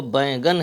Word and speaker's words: بینگن: گیلا ایندھن، اودا بینگن، یہاں پر بینگن بھی اس کو پڑھ دیتے ہیں، لیکن صحیح جو تلفظ ہے وہ بینگن ہے۔ اودا بینگن۔ دھیمی